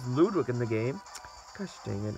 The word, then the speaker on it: Ludwig: supposed to be Ludwick not Ludwig they pronounce it so much it's so just a brand new they pronounce ludic so incorrectly but Bowser Jr has